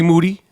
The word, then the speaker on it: Moody: in here with moody last name rhymes with duty yep mo Nettie